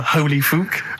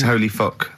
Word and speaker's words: Holy Fuck: Please, can we have more Holy Fook? You're not pronouncing it right, I Steve. know. I was just a bit edgy there. It's Holy Fuck, the little Chinese fella.